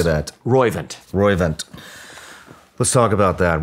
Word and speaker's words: Roivant: R-O-I-V-A-N-T. How do you say that? Roivant.